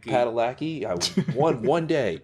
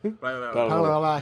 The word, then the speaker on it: Padalecki: Pronounce that right? Padalecki.